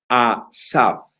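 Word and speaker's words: אסף: lo digo despacio para que se lo aprenda, asaf. Asaf. Tercera vez lo repito. Asaf.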